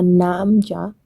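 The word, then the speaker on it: 남자: But Korean is gamja, namja. I still don't get it. Make sure you pronounce the gamja when you want to say potato, or namja when you want to refer to a man.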